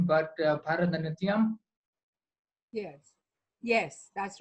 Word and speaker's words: Bharatanatyam: In those poses, in the photo shoot with me, were you switching between incorporating, theater, drama, and forgive my pronunciation, but Bharatanatyam? Yes, yes, that's right, Bharatanatyam and Odissi.